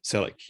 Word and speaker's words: Selleck: Your name's pronounced. Your last name is Selleck, right? Selleck. Yep. Selleck.